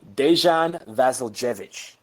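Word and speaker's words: Dejan Vasiljević: one more time do it one more time dejan vasiljevic that's awesome keep going sorry all right um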